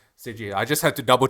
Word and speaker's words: Seiji: Seiji. I just had to double check to make sure I don't butcher the name for every.